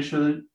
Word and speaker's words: should: You should sell your PlayStation. To get money for the baby, for the diapers, for the milk, no? Okay. Se pronuncia should, como si no tuviera la L.